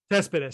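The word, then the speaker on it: Céspedes: I don't know how to pronounce it. I think it's Joelyn Cespedes. Cespedes, sorry.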